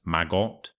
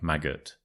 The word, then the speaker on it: maggot: So I know it's spelt as if it could be pronounced maggot, but it's more like maggot. Ut. So ut, not ot.